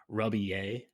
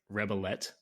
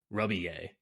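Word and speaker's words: Rebillet: correct it is mark ruby a but it's it's spelled uh r-e-b-i-l-l-e-t it's like rebelette or rebel a but it's it's pronounced ruby a uh yeah but anyway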